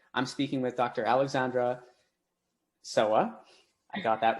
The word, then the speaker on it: Sowa: you uh okay my name is dr alexandra soha okay little a yeah you have to roll